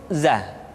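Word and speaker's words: ز: Selanjutnya huruf za, diucapkan dengan cara ujung lidah kita berada di antara dua gigi seri bagian atas dan bagian bawah. Za, menyerupai dengan pengucapan huruf Z di dalam huruf Latin. Tetapi ingat, huruf za bersifat al-jahr. Artinya ketika kita mengucapkan huruf za, suara kita mengalir, akan tetapi nafas tidak boleh mengalir.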